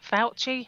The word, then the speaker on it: Fauci: I was reading a post recently that was attributed to whatever, Fauci, is that how you pronounce his name?